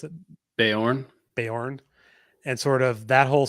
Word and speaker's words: Beorn: Is that how you pronounce it? Beorn? Beorn.